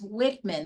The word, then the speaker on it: Wichmann: He is actually Dr. Thomas Wichmann. That's the correct way to say his name. And we're very happy to have you, Dr. Wichmann.